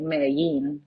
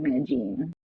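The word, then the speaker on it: Medellín: In Spanish, a lot of cultures say like pronounce a double L as a Y, but in Colombia, it's like a J. So other countries will say like Mm, Medellin, but we'll be like Medellin.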